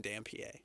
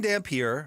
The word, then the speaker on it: Dampier: Like, how do you pronounce this guy's name? Specifically, Devin Dampier. Dampier? No, it's Devin Dampier.